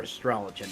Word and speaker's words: Astrologian: And I am Astrologian, or Astrologian, as some people may pronounce it.